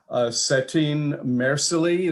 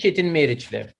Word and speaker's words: Çetin Meriçli: Let me introduce, I believe the pronunciation would be Setin Mersili. Is that correct? It's not, but that's fine. Well, how would it have been correctly pronounced? It is Çetin Meriçli, and thank you so much.